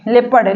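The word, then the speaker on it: leopard: मतलब होता है तेदु यहां पर देखिए ओ का कोई साउंड नहीं हो रहा है ए का उच्चारण ओ का उच्चारण नहीं हो रहा है यहां पर लेपर्ड बोला जा रहा है आगे देखिए पीपल पीपल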